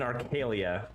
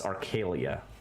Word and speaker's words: Arcelia: and you were in arcalia which is equivalent of modern italy it's where giovanni's from i think i mispronounced that name in a previous episode but it's arcelia so basically just like